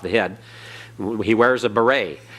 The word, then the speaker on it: beret: head he wears a beret well that et at the end the T is silent and that E is pronounced and long a it's like the the a like in the Spanish same you're the a